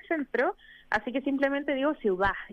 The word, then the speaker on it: CIUDHAD: título completo del centro, así que simplemente digo ciudad, y entre medio tiene Eso.